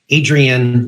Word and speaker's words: Adrienne: Hey everybody, it is with another episode of the Practice Profit System, and I am here with the lovely Adrienne. Did I pronounce your first name correctly?